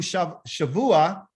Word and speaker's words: Shavuot: So the Shava Oath, what is this about? What does this word Shava Oath mean? Well, in the Hebrew, Shavuot, okay, Sha, and then they got Vua, means 7.